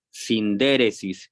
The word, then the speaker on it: sindéresis: llama o se escribe sindéresis sin d sindéresis si gustan anotarla sindéresis y Qué es la síntesis sindéresis la sindéresis así como se escucha con tilde pónganle la tilde en la primera e sindéresis la sindéresis